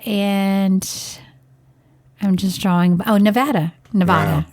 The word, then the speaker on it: Nevada: I'm just drawing oh Nevada Nevada let me say it correctly it's Nevada Nevada so anyway I don't want to offend the people cuz she always like it's Nevada not Nevada okay so if a listener